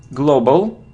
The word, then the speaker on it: global: It isn't global, no, it's O, global.